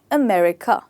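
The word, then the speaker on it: America: सकता है तो यह होता है अमेरिका जी अमेरिका मेरे बात बोलिए अमेरिका जो र है इसमें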